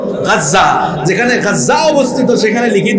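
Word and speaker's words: غزة: পাশে দেখবেন বর্তমানে যেখানে গাজ্জা অবস্থিত আপনারা গাজা বলেন আরবিতে উচ্চারণ হল গাজ্জা যেখানে গাজ্জা অবস্থিত সেখানে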